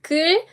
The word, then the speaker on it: 글: 글 versus 굴. 이런 수업 너무 좋은 것 같아요. So can you notice any difference? Let me pronounce those words, okay? 글 and 굴. 글, 굴.